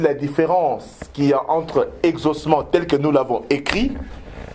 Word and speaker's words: exaucement: mais je dis que ce sont des homophones ce sont deux mots qui se prononce de la même manière mais qui ont une